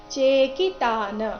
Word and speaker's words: ಚೇಕಿತಾನ: ದೃಷ್ಟ ಕೇತುಶ್ ಚೇಕಿತಾನ ಚೇಕಿತಾನ ಚೇಕಿತಾನ ಆದ ನಂತರ ಇರೋ ವಿಸರ್ಗದ ಉಚ್ಚಾರಣೆ ಅರ್ಧ ಕ ರೀತಿ ಬರಬೇಕು ಯಾಕಂದ್ರೆ ಮುಂದಿನ ಶಬ್ದ ಕ ದಿಂದ ಶುರುವಾಗ್ತಾ ಇದೆ ದೃಷ್ಟಕೇತ ತುಶ್ಚೇಕಿತಾನ ಸೆಕೆಂಡ್ ಚರಣ